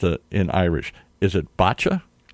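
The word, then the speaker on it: Báite: I'm going to see if I can pronounce it in Irish. Is it botcha?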